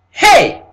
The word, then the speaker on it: He: here in the Hebrew is called Hey Now what sound comes out of your mouth that the moment you made this pronunciation of hey the sound that comes out of your mouth is what the first sound is what is H so what happened is this them scholar took up the term H because from the Hebrew the first sound that comes out of your mouth is what is the H sound when you pronouncing this